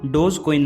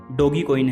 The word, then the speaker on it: Dogecoin: उन्होंने इसे अपनी क्रिप्टो करेंसी के लोगो में यूज किया, और इसका नाम डोज कॉइन नहीं बल्कि डॉगी कॉइन है, जिसे कि हम गलत प्रोनाउंस कर देते हैं।